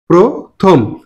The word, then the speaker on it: প্রথম: এবার আসি প্রথম নাকি প্রথম নাকি প্রথম কোন শব্দের আদিতে যদি রফলা যুক্ত থাকে এবং তার সাথে কোন কার চিহ্ন না থাকে তাহলে এই রফলাটা থাকবে তার সাথে যুক্ত হবে ওকার প্রহবে প্র ওকার হবে প্রথম না হবে কি থম প্রথম এখানে দুটো অক্ষর আছে